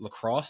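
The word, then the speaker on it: La Crosse: uh undergrad UV or UW Lacrosse is how you pronounce it yeah lacrosse um you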